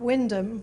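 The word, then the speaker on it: Wymondham: and when they announced that the train stopped windham which is how he pronounced it in norfolk he missed his stock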